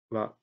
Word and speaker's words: は: These special ha are attached to last phrases and pronounced wa.